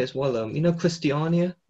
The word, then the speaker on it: Christiania: Yeah, so problems with things like Christiania, that's how it's pronounced.